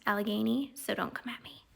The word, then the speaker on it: Allegheny: you come at me and tell me it's pronounced algonie i have been specifically told that it is pronounced allegheny so don't come at me even if you